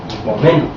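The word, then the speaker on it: hypomeno: Así dice, palabra griega que dice no, con acento en la E, hipomeno.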